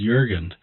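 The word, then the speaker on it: Jürgen: Jurgen and you know the German pronunciation as Jurgen Jurgen.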